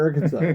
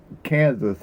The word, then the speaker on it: Arkansas: where we Africa or Arkansas somewh somewhere South not AR cansas how do you say it no it's not Kansas it's our Kansas zerc anyway so [